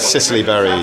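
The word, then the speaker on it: Cicely Berry: yeah paty rodenberg uh that's a woman and Sicily Barry cic c l y v e r y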